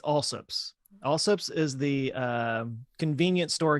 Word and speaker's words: Allsup's: So in Texas, small town Texas, it's Allsup's.